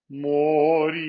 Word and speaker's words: morire: And in the next word, it's also the second. Morire.